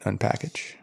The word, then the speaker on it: unpkg: But yeah, I mean, you would pronounce it Unpackage, right?